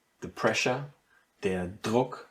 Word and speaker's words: Druck: And so you have, for example, der Druck, the pressure, der Druck, you see a very clear D in the beginning.